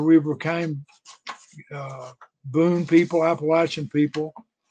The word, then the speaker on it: Appalachian: office and told me taught me how to pronounce Appalachian this is Appalachian latch Appalachian and now then is all say AB state